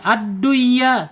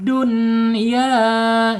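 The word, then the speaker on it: دنيا: Ini harus dibaca jelas. Adunya hayatid dunya ya gitu bacanya. Awas sin wa nun kin w nun. Ya, itu bacaan-bacaan yang harus dibaca jelas enggak boleh diidgamkan. Ya, betul ya. Wajib ini wajib dibaca izhar dunya ya.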